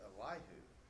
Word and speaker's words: Elihu: point and then comes i'd always said elihu he said or something he put the emphasis on that last syllable and i put it on the middle one but anyway the younger